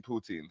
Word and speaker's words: poutine: Yeah, poutine.